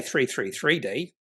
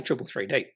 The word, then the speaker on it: 333D: Yeah, it just makes you wouldn't say 333D. We'll say triple 3D.